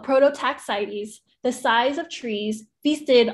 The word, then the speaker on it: Prototaxites: prototax sites um angel you can pronounce that prototaxities oh prototaxites the size of trees